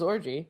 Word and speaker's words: Orji: but Yvonne Wow I I think that is how you pronounce your last name is orgy really okay yeah I